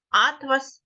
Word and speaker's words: атлас: різними наприклад атлас атлас в першому слові атлас у нас наголос падає на перше а і це буде збірник карт а в другому слові от вас тканина наголос буде падати на другий склад Барви осені Барви веселки